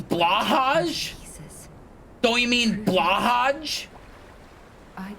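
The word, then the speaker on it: Blåhaj: When I say Blue High, I'm pronouncing it better than anyone else because everybody else is, oh, you mean Blahaj?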